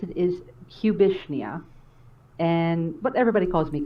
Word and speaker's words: Cubishnia: choose this name for yourself the way you pronounce it is cubishnia and but everybody calls me cubby but i